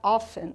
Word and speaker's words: often: o ofen Lembrando que o ofen pessoal ele tem a pronúncia com esse T mudo que a gente chama de silent letters in english Acontece muito isso no inglês de ter uma letrinha que ela fica muda na hora da pronúncia Então seria often né